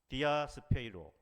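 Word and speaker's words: διασπείρω: 아멘.이 흩어지다라는 단어도 굉장히 중요한데 디아스페로이 디아스페이로 디아스페이로 발음이 어렵죠? 디아스페이로인데 여기에서 뭐가 나왔습니까?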